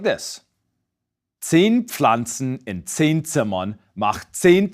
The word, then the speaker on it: Pflanze: Likewise, the PF in Pflanzen is pronounced just as it's spelled. A P, P, combined with a F, Pf. So it's Pflanze, Pflanze. In fact, my last name starts with this sound.